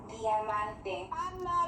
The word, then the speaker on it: Diamante: She's Dominican, so go ahead and say Diamante, girl. Diamante. Diamante. So that's how you pronounce it.